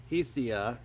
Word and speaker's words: Hisea: an insulated and uh this company called heisty hesia hesia and it's spelled h-i-s-e-a they reached out to